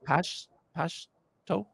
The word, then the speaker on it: Pashto: Is it called Pashto?